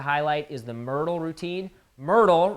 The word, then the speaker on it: Myrtle: is the Myrtle routine Myrtle rhymes with hip girdle and when I was